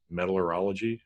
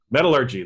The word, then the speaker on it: metallurgy: a little more about metal metal or ology however you say that right metallurgy there we go and kind of pronounce